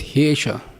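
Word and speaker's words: hyeṣā: So it's pronounced as Hesha.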